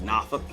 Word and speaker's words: Norfolk: People often mispronounce Boise. Norfolk, Virginia, like Norfolk.